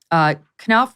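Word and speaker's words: Knauf: Is that how you pronounce his name? Knopf, yeah.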